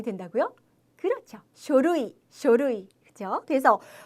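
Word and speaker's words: 書類: 그 다음에 서류라는 표현은 어떻게 발음이 된다고요? 그렇죠. 쇼루이.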